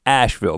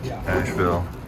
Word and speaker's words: Asheville: First stop was gonna be in Asheville, because if you're going to Nashville, you should stop at a town that rhymes with it before you get there.